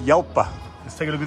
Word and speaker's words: Jalpa: So it's a Jalpa, guys, or pronounced Yalpa.